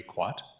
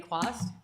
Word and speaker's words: Quast: to terry and kwat hope i have pronounced that last name okay hi my name is quast he decided i'm going